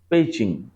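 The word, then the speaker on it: 北京: এই মোহাম্মদ তৌহিদ সর জিজ্ঞেস করলাম যে এই যে উচ্চারণটা এই উচ্চারণটা কি? বেইডু নাকি? তখন সে আমাকে জানালো যে পেইতো। যেমন বেইজিং এর উচ্চারণ কিন্তু চীনা ভাষায় পেইচিং। বেইজিং বলি আমরা সেটাকেই চীনা ভাষায় বলে পেইচিং।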